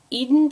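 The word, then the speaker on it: Eadon: posts so she has uh so it's the Eden pattern which is spelled e a d o n and it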